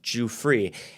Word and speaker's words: Giuffre: Again, to the point about Virginia, I believe it's pronounced Giuffre, like the disrespect to her